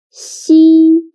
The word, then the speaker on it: 西: 西 sounds a little bit like the first sound of sheep, but when pronouncing 西, again, your tongue should be more flat and you need to stretch your mouth to two sides. 西.